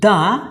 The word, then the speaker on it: the: থাকে তাহলে ওই THE কে আমরা সবসময় দা উচ্চারণ করব। So let's see some example. So example number 1, হি ইজ দ্য, এখানে আমি THE লিখেছি।